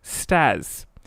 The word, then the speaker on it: STAS: an acronym meaning sexual terms actions and sounds pronounced stars usually used as replacement for that's what she